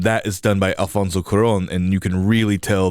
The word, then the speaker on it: Cuarón: kid's movie, and that is done by Alfonso Cuarón, and you can really tell the difference in style in the sense that there is one. Never rolled my eyes harder. Why did you? You went Alfonso Cuarón.